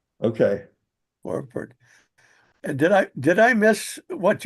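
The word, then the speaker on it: Hanny's Voorwerp: Yeah, I just looked up the pronunciation, and it sounds like H is pronounced like an H. Hanny's Vor, and then it is a V. Hanny's Vorport. Okay. Vorwerp.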